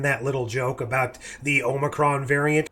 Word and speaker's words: Omicron: how to pronounce it everyone was saying homicron or omnicron or whatever I always went back to Futurama's way of pronouncing Omicron as the way to pronounce it so it's kind of